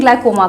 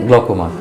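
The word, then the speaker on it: glaucoma: बात करते हैं ग्लाइकोमा का। आई थिंक मैं इसकी सही प्रोनाउंसिएशन कर रही हूं। ग्लाइकोमा कहते हैं ना सर। ग्लकोमा।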